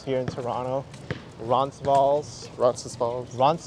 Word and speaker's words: Toronto: it's water that's why I don't pronounce the second T in Toronto leaves this as a